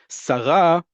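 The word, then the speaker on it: שרה: Sarah, the emphasis on the last syllable, is a female minister.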